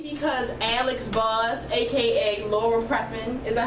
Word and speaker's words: Prepon: If I was ever to become a lesbian, it would be because Alex Voss, aka Laura Prepon, is that how you pronounce her last name?